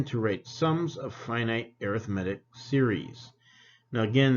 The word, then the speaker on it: arithmetic: arithmetic series now again that word is pronounced arithmetic when we're looking at series or sequences right when we say arithmetic that's when we're just doing our basic you know adding subtracting type stuff so arithmetic now if